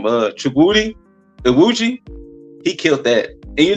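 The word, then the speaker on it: Chukwudi Iwuji: listening how to pronounce his name. Chukwudi, Iwuji.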